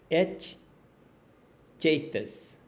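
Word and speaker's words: haecceitas: aquela célebre palavrinha latina, et chaitas, uma pronúncia romanizada de um latim clássico. Guardem o som.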